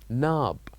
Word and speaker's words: knob: did learn last time which is Nab knob a door knob so here as you can see we wrote K and N so here we're not necessarily H going to pronounce k but we need to uh write it here also other example which